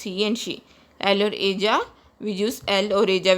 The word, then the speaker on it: ella: Double L is pronounced as J in Spanish, so it is pronounced as ella.